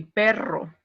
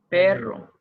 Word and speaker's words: perro: Ok, y perro, ¿verdad? Perro. Ujú. Can you pronounce again? Perro. Isn't it perro? Perro. With the force in the I, in the first Perro. vowel.